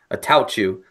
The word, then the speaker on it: Attaochu: And I'm like, I have to think of me sneezing to say it, like Attaochu.